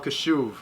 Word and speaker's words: Kashuv: on the phone i'm on facetime with kyle kashuv how do you say your last name because